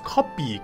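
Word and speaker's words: 코피: In Korean it's kopi. Kopi. Sounds like copy, right? But in Japanese it's kohi.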